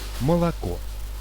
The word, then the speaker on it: молоко: We pronounce O as a short when it comes before the stress.